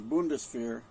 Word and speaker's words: Bundeswehr: Well, I know how to pronounce the first part, which is Bundeswehr, which just means a German military, right?